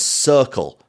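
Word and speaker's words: Cirkul: been sipping on is circle but that's spelled c-i-r-k-u-l you may know it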